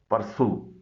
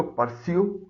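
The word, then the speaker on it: pursue: परसू इसको परस्यू न पढ़िएगा, इसकी सही प्रोनाउंसिएशन है परसू, यानी ताक़ुब करना, पीछा करना, पैरवी करना।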